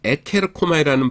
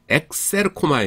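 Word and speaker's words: ἐξέρχομαι: 근데 어 왠지 모르는데 그리스들이 에케르코마이라는 발음을 싫어해요. 그래서 이걸 카파를 뭐냐면은 크시로 바꿔 줍니다. 모음이 왔을 적에. 그래서 발음을 엑셀르코마이 이렇게에 해 줍니다. 어 에케르코마이. 엑셀르코마이.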